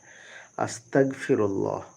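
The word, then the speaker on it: أستغفر الله: আমার প্রশ্ন হলো আস্তাগফিরুল্লাহ সহিহ উচ্চারণ করে দিবেন। আস্তাগফিরুল্লাহ। বাংলাতে যদি বলি আদন্তস আকার গ ফয়সি রস ল আকার হ আস্তাগফিরুল্লাহ। লয় আকারও বলতে পারেন আবার শুধু লয় লয় হও বলতে পারেন আস্তাগফিরুল্লাহ আল্লাহ লা হবেন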